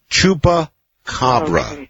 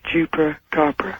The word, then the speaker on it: Chupacabra: The name of this animal is Chupa Cabra. Jupra Copra. Chupa Cobra. If I can do anything, I'm going to get people to pronounce it correctly.